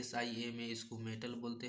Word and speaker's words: SIMA: इसको सीमा नहीं बोलते, इसको SIMA हिज करके बोलते हैं। स्पेलिंग एक एक वर्ड स्पेलिंग करके बोलते हैं। SIMA है, ठीक है ना।